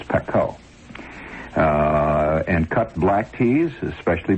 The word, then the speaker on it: pekoe: It's not pronounced pico, you know. It's pekoe.